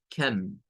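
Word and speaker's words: computer: Esa O se pronuncia con un schwa. La C toma el sonido de una K. Entonces es algo como cam, cam.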